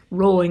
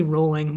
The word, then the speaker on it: Rowling: Rowling. It's actually Rowling, but I'll never like naturally pronounce it that way. J.K. Rowling. Yeah. Guess it's she's rolling in money.